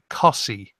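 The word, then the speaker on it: Costessey: Yeah, people who live there pronounce it Cossie. Cossie? That's bullshit. That's bullshit. Where's the T? What happened to the T?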